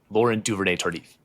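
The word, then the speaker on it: Laurent Duvernay-Tardif: Lauren Duivere Tardif. That is correct. Let's go spot the silent t at the end of Laurent is a tough.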